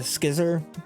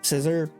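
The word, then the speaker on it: Scizor: think I do uh Mega skizzer scissor however you pronounce it um I know a lot of people pronounce it different ways I pronounce it skizzer um mega skizzer I'm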